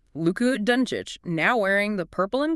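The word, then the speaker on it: Dončić: And we have to start with the man leading the league in scoring, Luc Donic, pronounced Luc Dunic, now wearing the purple and gold.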